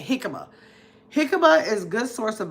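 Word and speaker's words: jícama: Hikima. I keep trying to pronounce the J because it's spelled J I uh C A M A. Hikima.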